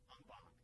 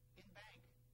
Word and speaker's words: en banc: Our extra word today is no, not Latin, but French, en banc. Or you'll also hear it said in bank.